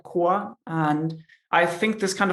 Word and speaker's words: QOA: survey in the beginning asking native speakers how would you pronounce qoa the majority said koa and i think this